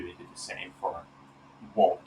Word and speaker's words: Wolt: In 2022, they did the same for Wolt, or Volt, might be how you pronounce that because it's Finnish, for $8 billion.